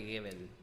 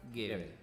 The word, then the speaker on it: Gebel: Estoy hablando de Dante Gebel. Es una cosa medio rara porque se escribe Hebel, pero se pronuncia Gebel.